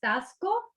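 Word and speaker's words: Taxco: pronounce this it's uh it's pronounced tasco tasco okay i still get little that's where i filmed the movie in august got it the xc gets me every time in tosco guerrero mexico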